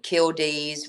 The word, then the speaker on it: killdeer: I reference killdees, which are killdeers, but we pronounce them killdee.